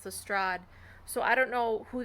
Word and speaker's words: Lestrade: don't like is that the narrator of the audiobook is pronouncing lestrade as lestrade and i mean it's been 120 years i think it's commonly accepted knowledge that lestrade is pronounced the strad so i don't know